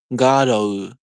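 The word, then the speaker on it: Garou: Because yeah, because Garu is spelled differently than how it should be pronounced. Let me see. It's spelled Garrou. In Japanese, that should be like Garo. Garo. I don't know. I know the Japanese alphabet, so I know it's like Garo.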